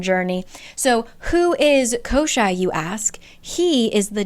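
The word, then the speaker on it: Koschei: an idea it's kosai I looked it up it says that it's pronounced kosai all right we're embarking on another pronunciation Journey so who is kosi you ask he is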